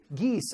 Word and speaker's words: Guise: You'd say the S because there's an E after. Oh, I would say yes. Geese? Geese. Okay, so good.